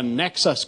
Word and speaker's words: Nexus: process I've introduced the Nexus card rhymes with Texas except and it's spelled